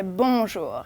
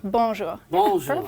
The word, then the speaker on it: bonjour: have to start with bonjour good morning hello and if you want to pronounce it properly don't say bour don't pronounce the N just say bonjour it's very nasal bonjour I have a Nas